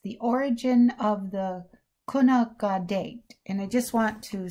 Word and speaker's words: Gonaqadet: the origin of the kunaka date and i just want to say that i apologize about my mispronunciation i'm not a clanket speaker but i think it's kona gaudet in a village somewhere